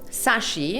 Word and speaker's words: Shashi: wrong all the time so it's sashi sashi there we go but there's an h i don't know my parents are just messing with people he's throwing a silent first h for no